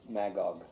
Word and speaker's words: Magog: Magog.